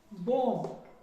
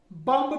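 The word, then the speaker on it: bomb: बॉम्ब। बम्ब नहीं होता है, बम्ब नहीं होता है, बॉम्ब होता है, बॉम्ब।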